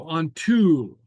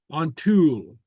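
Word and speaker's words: an t-sùil: So on tool. Okay, and so you notice that the S kind of goes away. The S goes away, and we just pronounce the T. So on tool, the I.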